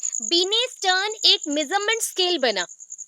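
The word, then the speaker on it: Binet: बिनेट ने। और बीने बोला जाता है, actually spelling wise is बिनेट, but pronunciation is बीने।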